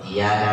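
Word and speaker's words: إِيَّاكَ: Tapi kalau tasdidnya dibuang pakai iyyaka na'budu, maknanya iyyaka tanpa tasdid di dalam bahasa Arab adalah damu'us syamsi, cahaya matahari. Berarti kalau orang nanti bacanya nggak pakai tasdid, maknanya apa? Ini matahari.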